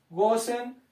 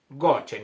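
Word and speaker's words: גושן: palabra gosen es la palabra Go se escribe se escribe en hebreo goen para que usted Arribita donde dice gosen le ponga gochen ya en su Biblia donde parece gosen le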